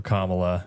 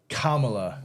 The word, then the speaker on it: Kamala: thank you to all the Democrat husbands out there who told your wives that you were voting for Kamala.